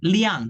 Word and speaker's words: 辆: Nah, liang, dibacanya liang, nada keempat. Ya, nada keempat.